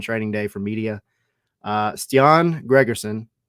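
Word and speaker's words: Stian Gregersen: Day for media uh ston Gregerson that is the pronunciation by the way we verified that he he told us himself ston Gregerson um and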